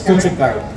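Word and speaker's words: 고춧가루: That's called gochugaru. Is that how you say it? That's how I say it. It's gochugaru. Yep.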